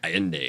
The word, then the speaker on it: Allende: And how do you pronounce his last name? Allende.